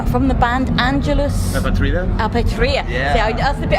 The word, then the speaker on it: Apatrida: Apatrida. Yeah. See, that's the bit I couldn't pronounce.